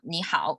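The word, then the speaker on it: 你好: chinese phrase it's called nihao means hello so in chinese we use pinging to pronounce the words and it has four intonations for nihao both characters are the third intonation so me and how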